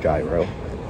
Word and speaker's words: gyro: So on the TV it says you get a Caesar salad or you could get gyro, which I now realize is pronounced gyro.